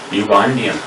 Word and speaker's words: Ugandan: Because this is started with U. Pronounced not with the vowel, as in Hindi alphabets. In Devanagari Lipi or Devanagari script in India, whatever the vowels of Indian Devanagari script are there, according to that script, that vowels, we add A or N we add with those vowels which starts with vowels. Vowels pronunciation. Not we say here U. Here U is pronounced as Ya, U.